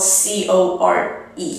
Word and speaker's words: corps: is a dead body it's pronounced core and core is kind